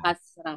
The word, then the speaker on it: kasrah: Memang betul tulisannya kasrah. Padahal ini dibacanya kasroh. Ada Kasrah. O-nya. Mhm. Kasroh. Nggak salah ya Bu ya. Nggak salah orang banyak kasrah. Orang tulisannya kasrah tuh. Nuhun. Kasrah. Kasroh padahal mah gitu.